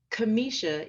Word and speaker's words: Kimisha: be here and I want to make sure Kamisha is the correct pronunciation correct yes that's correct Kimmy show yeah and the reason why I wanted to